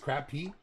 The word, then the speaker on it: crappie: on that stuff right in the South it is pronounced crapp PE so I I wasn't saying it wrong before but I'm in the